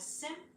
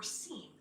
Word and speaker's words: SIEM: The acronym SIEM may be pronounced as SIM or SIEM, but we'll use SIM throughout this program.